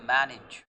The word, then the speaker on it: manage: Okay, manage, but I'm sorry, this is the word is, the pronunciation of the word is manage। Again A is giving you sound of E।